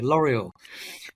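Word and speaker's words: L'Oréal: No, no, we have to pronounce it British way. L'Oreal.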